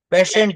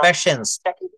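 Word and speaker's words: patience: You can try them if you wish, and you must have প্যাশেন্ট না, এটা uh, প্যাশেন্স, প্যাশেন্স উচ্চারণ হবে প্যাশেন্স। প্যাশেন্স মানে ধৈর্য।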